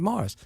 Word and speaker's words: Maurice: I'm not Jewish Morris I'm English Morris Maurice ma you are I see E but we pronounce it Morris said also you're not